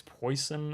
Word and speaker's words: Preussen: an audio clip of somebody pronouncing it correctly it's poison or something similar to that i'm going to go pre-sun is how i'm going